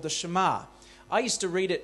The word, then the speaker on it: Shema: it mean well this prayer is called the Shema I used to read it as Shema it's spelt sh t ma and I used to read it as Shima until I started to learn that sometimes our